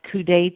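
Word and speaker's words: coudé: the males will use what what is called couet tip that's coude it's pronounced couet tip and so it's a catheter with a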